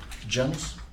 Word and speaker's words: Janus: if you want an English pronunciation, it's Janus. Ah, okay. But if it's Latin, then it's Janus. Janus. Janus is more Janus.